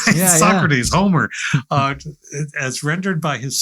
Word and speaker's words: Socrates: Socrates is rendered by Plato, or Socrates, as I've learned, is actually the pronunciation, and not because he's